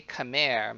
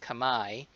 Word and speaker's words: Khmer: As I mentioned in the end of discussion two, Khmer, you might want to say Khmer, but it's pronounced Khmer, is the dominant ethnic group in Cambodia.